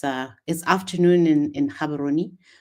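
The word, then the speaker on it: Gaborone: this afternoon in in Cabaroni. We don't pronounce the G, Kabaroni for those of you who may not know.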